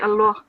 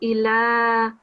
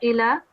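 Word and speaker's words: الله: the lamb in the word Allah would be pronounced with the thickest sound it would be Allah the other thing however was giving two seconds on the vertical Fattah um it would be Allah it's not Allah it's three seconds on the vertical strike hey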